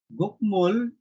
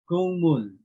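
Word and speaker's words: 국물: Okay, so example, instead of gukmul, okay, the correct pronunciation is gungmul. Okay, gungmul. Instead of gukmul, gungmul.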